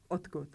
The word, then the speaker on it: odkud: Odkud. And what do you not hear when I say odkud? There's no d sound in the word odkud. Even though we spell it with d, we pronounce t.